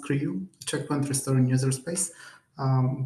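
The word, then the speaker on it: CRIU: I so I've been working on Creo for so it's pronounced CRU checkpoint restoring user space.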